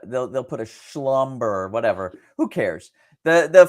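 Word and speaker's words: Schlumberger: last week was and I'll try pronounce it in the French way Slumber ticker symbol SL lb did I say that right Slumber yeah or I think the French will actually say they'll get rid of the they they'll put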